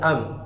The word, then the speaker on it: ال: Dalam pembahasan alif lam. Alif lam itu kan al bacanya. Nanti ada kala bisa kita baca am sesuai dengan bacaan Nabi ketika berbicara dengan Ahlul Yaman.